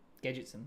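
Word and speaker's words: Gadgetzan: Gadgetsen. Gadgetson. There we go. Someone pointed out in that in the previous video I was mispronouncing something.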